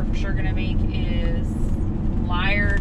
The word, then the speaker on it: Liard: sure gonna make is liar or yard which is how they say it here not player died cowboy